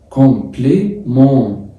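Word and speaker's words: complément: كومبليمن إن الإي والإن اتنطق إن ولا تبقى كومبليمون. طب وحرف التاني في الآخر هل هيتنطق؟ لا مش هيتنطق.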